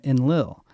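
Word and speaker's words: Enlil: hearing it wrong and should be pronouncing it en Lil en Lil was the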